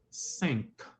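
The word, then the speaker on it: cinq: you can participate too in French five is sink sink sink candy s good j s o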